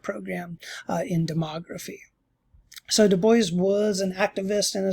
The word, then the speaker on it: Du Bois: so on so w.e.b du bois uh and it's has it pronounced the boy not i mean the boys the boys not the dubois as it would be pronounced in in french he went by the